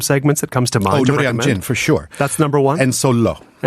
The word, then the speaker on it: Noryangjin: First learn how to pronounce properly, Noryangjin.